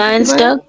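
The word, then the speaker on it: Dienstag: তার উচ্চারণটা কি হয় ইর পরে যখন এ দেখছি আমরা তখন তখন তার উচ্চারণটা কি পড়ছিলাম ই হয় ই হয় তাহলে কি হবে ডি তাহলে ডি থাকবে না ডি তারপর এন এস আছে তাহলে ডিন্স টাক ডিন্স টাক এখন বলেন ডিন্স টাক তারপরে হচ্ছে মিডভোক মিডভোক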